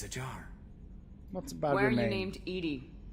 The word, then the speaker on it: EDI: what's bothering my named Edie Edie is the phonetic pronunciation of EDI that is an acronym